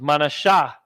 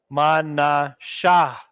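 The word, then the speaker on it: מנשה: over here Vanessa equals manasha so-called Cubans Mana Shah connect the Shah and the ha and then you get in the Assyrian God equals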